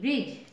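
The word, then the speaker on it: bridge: भूगोल ब्रिज बी आर आई डी जीी ई ब्रिज ब्रिज मीस होता है पुल इसका प्र ब्रिज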